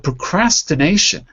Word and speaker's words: procrastination: always before the tion so you say nation stress on the first syllable because it's before the tion but procrastination procrastination right it's not procrastination it's procrastination so again it'll be stressed on this syllable before so you have to